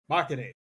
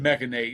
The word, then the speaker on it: Machinate: Machinate. Machinate. That makes sense. There's no E, because I said mechanate and there's an A.